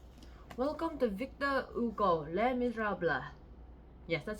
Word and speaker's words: Les Misérables: Welcome to Victor Hugo, Les Miserables. Yes, that's how you pronounce it.